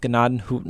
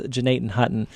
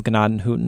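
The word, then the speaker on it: Gnadenhütten: Hutton or hoot it's uh well it's actually pronounced gadan hooton gatan hooton yes or Jan Hutton if yes J Hutton yeah the English pronunciation is Janan Hutton the actual German pronunciation is ganad hooton and it means tents or Huts of Grace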